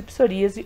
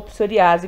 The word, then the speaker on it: psoríase: Então vamos falar dos tipos de psoríase ou psoriase, como você quiser pronunciar aí, tá bom?